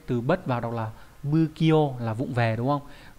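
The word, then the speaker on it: 不器用: bất vào đọc là bư kyo là vụng về, đúng không? Tùy trường hợp nhé, có trường hợp nó đọc là phư, có trường hợp đọc là bư.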